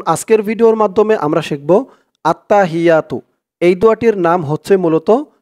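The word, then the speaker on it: التحيات: খেয়াল করবেন আত্তা হাইয়া এখানে হ দেওয়া আছে কিন্তু এখানে উচ্চারণ করতে হবে এরকম উচ্চারণ করতে হবে কারণ আরবিতে এখানে বড় হা এজন্য উচ্চারণ করতে হবে আত্তাহিয়া এক আলিফ টান দিতে হবে আত্তাহিয়াতু লিল্লাহি আমি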